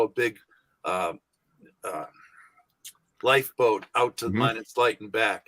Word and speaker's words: Minot: Is it Minot? How you pronounce that?